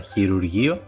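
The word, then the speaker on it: χειρουργείο: El próximo diptongo es la combinación omicron-y, que se pronuncia U, como por ejemplo en la palabra chirurgio, que significa cirugía.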